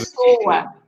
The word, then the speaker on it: Pessoa: Pessoa, yeah. Pascoal, Yeah, okay. because you have to split it into three. P, so, a. You split the words in three parts. She's given. Pessoa, right?